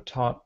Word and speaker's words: taught: They do, but this taught starts with a hard T sound, and the second one starts with a th. Okay. That's the biggest difference. So taught, thought.